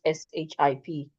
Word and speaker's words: ship: So the way Nigerians pronounce S-H-A-P-E is the way you should pronounce S-H-I-P. Ship.